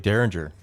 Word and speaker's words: Dareringer: doing this morning dude it's pronounced like Derringer I'm reading this right